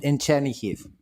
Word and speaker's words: Chernihiv: Can you explain a little bit what the situation is in Chernihiv at the moment? Did I say that right? I really struggle. You pronounce it correct, except the city is wrong.